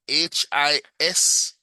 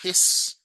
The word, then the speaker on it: His: the bundle of and h I s pronounced his. It's not an English word. Just go with it, right? It's not his, it's his.